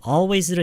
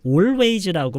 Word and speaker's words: always: Was he always like this? 이 always 할 때 조금 더 이 어에서 소리가 확 펼쳐져야 돼요. 이 오에서 머물러 있으면은요. 무슨 얘기하지? 이렇게 될 수가 있어요. 오케이? 여기서 시작할 때 always를 시작할 때 이게 왜